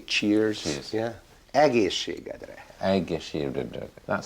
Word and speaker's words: egészségedre: Egészségedre.